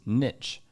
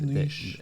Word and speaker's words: niche: But the majority of his specific fan base or his niche fans. It's pronounced niche.